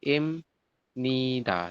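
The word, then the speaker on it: 입니다: dengan n di sampingnya maka si B nanti dibacanya bukan p tapi Jadi gimana Yan imid imida i betul Im Nida seperti ini ya apa yang berubah yang berubah adalah bnya menjadi m seperti bisa dipahami enggak kira-kira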